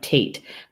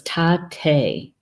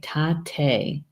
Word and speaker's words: Tate: pronouncing this word right it looks like Tate but that is not how you pronounce it in Lakota so it's tight a right tight a tight a wind wind